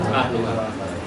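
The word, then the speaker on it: أهلها: Min qaryati adh-dhalimi ahluha. Qaryah itu apa namanya dia? Qaryah dia muannas, adh-dhalimi dia mudzakkar. Kenapa? Karena dia fa'il dari ahlu. Adh-dhalimi kita bacanya ahluha bukan ahliha.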